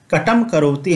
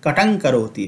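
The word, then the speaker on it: कटं करोति: जैसे कटम करोति हम नहीं पढ़ेंगे, कटंग करोति पढ़ेंगे, क्योंकि यह अनुस्वार का उच्चारण अंग के अनुसार होगा और अंग जो है वह क वर्ग का पांचवा वर्ण है।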